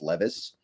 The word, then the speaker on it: Levis: Levis or Strat or I think it's Levis actually people keep telling me in my comments it's Levis I should learn how